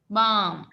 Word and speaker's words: balm: balm කියන එකේ L අකුර. ball කියන්නේ නැහනේ. balm. නේද?